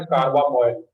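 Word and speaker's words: carbamoyl: नहीं, कार्बामोइल correct करोगे, इसका प्रोनाउंसिएशन करेक्ट करोगे। ये क्या होता है, कार्बामोइल।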